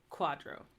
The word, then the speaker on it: quadro: always silent and then q u is always pronounced like the qu in quest so Quadro that means picture R